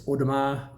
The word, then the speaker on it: Audemars: They don't say the S at the end of Audemars, they don't say the T at the end of Piguet, it's not Piguet, as I've heard many times.